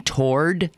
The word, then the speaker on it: toward: w a r d, I'm saying tor like t o r d. And I ham it on very good authority that has absolutely the correct pronunciation because um when I